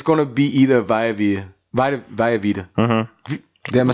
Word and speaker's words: Vita Vea: So it's going to be either Vita Vea. Mm-hmm. Am I saying it right? Vita Vea? Vita Vea. Vita Vea.